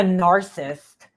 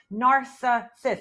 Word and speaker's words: narcissist: me too but there's there's narsa sis there's three syllables bro in the word and I know that you probably don't understand what a syllable is okay but you say narcissist and that's not the word just like you say